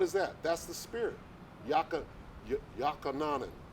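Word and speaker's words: יוחנן: Yakananan Yeah. is how you say it in the ancient Hebrew. How do So, you say it? Yawakanan, Oh wow.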